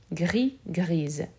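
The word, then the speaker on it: grise: griez feminine so here the s will be pronounced however it will sound more like a z grizz then we have a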